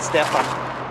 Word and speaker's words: Stefan: Stefan is a Swedish name. We pronounce it Stefan. But Stefan. Man.